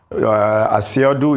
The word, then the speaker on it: Asiodu: I was an aide to Chief Philip paciodu asiodu is the correct pronunciation but usually when we say that many